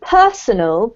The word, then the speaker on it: personal: So personal, P-E-R-S-O-N-A-L, is something that relates to you. It's like your personal preference. It's your preference as opposed to somebody else's.